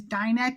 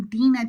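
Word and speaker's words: Dinah: name the same way, but because the American pronunciation is Dina to keep the continuity the same, I called her Dina the entire time.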